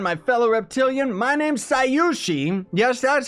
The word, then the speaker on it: Scyushi: My name's Scyushi.